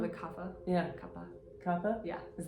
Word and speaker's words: kapha: You pronounce it kappa? Yeah. It's called a kapha.